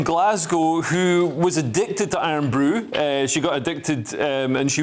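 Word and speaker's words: Irn-Bru: a story about something, and I hope I pronounce it right. It's called Iron Brew. Iron Brew, this is right, and please don't pigeonhole me.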